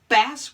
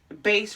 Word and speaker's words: bass: bass guitar got it bass with the short a means a fish bass with the long a means the lowest adult male singing voice or the bass guitar why does english have